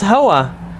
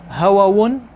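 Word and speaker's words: هوى: It's hawa. But it's, you have to know why the tanween is there. Do we ever say hawawun? No.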